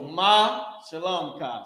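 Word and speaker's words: מה שלומך: So ma shalom ka. So let me put how you pronounce this. This is ma and this is shalom ka.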